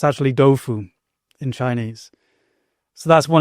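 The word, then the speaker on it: 豆腐: So for example, Taoism, sometimes spelt Taoism, well, that's the dominant spelling, actually is pronounced in Chinese Dao Jia, Dao with a D. Tofu, it's actually Doufu in Chinese.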